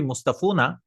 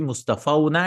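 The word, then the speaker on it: مصطفَوْن: So it will not be Mustafuna, it'll be Mustafauna and Mustafaina. Mustafauna or Mustafaina. See, it'll be auna aina.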